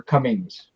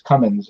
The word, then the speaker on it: Cummins: always want to call her Cummings. You know, there's no D on it. It's Cummins.